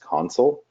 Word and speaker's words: Consul: and specifically what is console which is actually pronounced console and kind of the history of the name